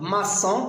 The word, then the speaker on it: maçon: Donc, maçon, parce qu'il y a O. Donc, pour ne pas prononcer macon.